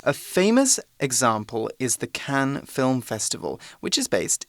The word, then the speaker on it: Cannes: OK，那 be based in something 通常我们指的是像是生活啦、工作等等的主要地点被设于某处。所以课文提到就是一个有名的例子呢，我们就是要讲到坎城影展咯。那主要举办的地点就是在 Cannes， OK，注意它的 S 是不发音哦，它是法国东南部城市的坎城。I think S is usually silent in French as well. Yes, Yeah. especially when it's at the end of the sentence like that, like